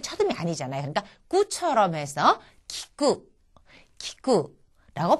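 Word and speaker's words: きく: 이거를 예를 들자면은 키라고 하는 것은 키쿠라는 단어의 첫음이 왔으니까 키와 가깝게. 그 다음에 쿠 같은 경우에는 첫음이 아니잖아요. 그러니까 꾸처럼 해서 키쿠라고 발음을 한다는 겁니다.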